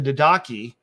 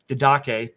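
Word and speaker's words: Didache: the first one the daki okay or D daachi it's in Greek it's probably Dak hard C Dake daki Dake um was one of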